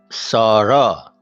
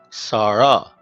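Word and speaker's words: سارا: Sarah. S, a, r, a. Sarah. Sarah is the name for a girl, the same as we said in Sarah.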